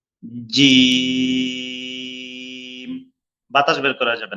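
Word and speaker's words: جيم: এই হরফটি 3 আলিফ টানতে হবে, মোটা হবে, একটু শক্ত হবে। জিম। বাতাস বের করা যাবে না, অনেকে এটাকে পাতলা করে বলে জিম জিম এইভাবে বলে, এটা ভুল।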